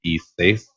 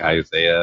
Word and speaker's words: Isis: And for many of you who didn't really know how to pronounce his name, it's Isis. A lot of you were like Isaiah or Isis.